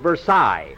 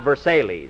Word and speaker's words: Versailles: the Versailles Mary that's that's pronounced Versailles not Versailles I'm quoting Phil and